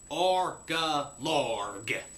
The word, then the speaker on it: Orgalorg: episode I be reviewing argillard now to make sure there'll be no misunderstanding of me pirate accent it is spelled o r g a l o r g ARCA larg all right so the